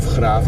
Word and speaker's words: Grave: Listen, if you know the city of Graafs, we'll be getting out shortly to see it. You spell it Grave.